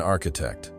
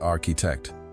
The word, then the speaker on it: architect: Building blocks for Elias, who decided he wanted to be an architect, though he still pronounced it architect, with the stress in the wrong place.